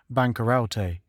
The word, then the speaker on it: bankarote: first folio of Shakespeare the word is printed bankarote pronounced as four syllables but this was altered